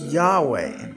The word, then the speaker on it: Yahweh: 680 states emphatically quote the true pronunciation of the name YHVH was never lost several early greek writers of the christian church testified that the name was pronounced yahweh or the personal name